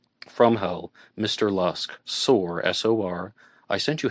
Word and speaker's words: Lusk: Lisk. And it actually says Mr. Lisk, M-I-S-H-T-E-R. Mr. Lusk, I guess, would be a better pronunciation.